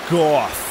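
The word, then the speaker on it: Gogh: is no one's fault that's actually pronounced goth but Vincent Van go I know but the car there are somebody who will later say the phrase goof okay so like cough yeah fine Dark Souls Robin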